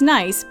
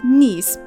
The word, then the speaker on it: Nice: looking up the city you'll probably assume it's nice based on the name alone while it's actually pronounced nice this city is still nice in every sense